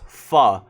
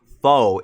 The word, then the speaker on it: pho: And I think they're good for different reasons. Like, I couldn't choose them over another. But if I had to, ramen is definitely my favorite. And I know it's pronounced fu, but I say fo like the classic American